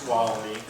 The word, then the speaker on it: Tuolumne: my tap and we teach them how to pronounce tuolumne by reminding the Tuolumne 12 you that's a